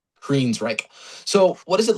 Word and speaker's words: Queensrÿche: Oh, uh Queens Reich was the old band Jeff was in. Uh, Queens Reich. Queens Reich.